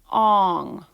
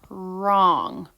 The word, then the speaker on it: wrong: oh right right ah wrong wrong so remember whenever you see WR you sound it out as just the air sound so the W is silent now we're going to